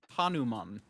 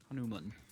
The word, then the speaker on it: Hanuman: Also, uh, it's pronounced Hanuman. Hanuman. Nerd. Nerd. Saying words correctly. Get him. Yeah. Well, I mean, I I just Googled how to pron my dyslexia kicks in and I mess it up. Fair. I mean, also, it's just like, where does the emphasis go? How do you pronounce is it man or man? And it's apparently man.